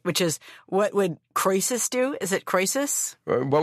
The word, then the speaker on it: Croesus: I hope I pronounce this right, which is, what would Croesus do? Is it Croesus? What would Croesus do? Exactly. Croesus, yeah.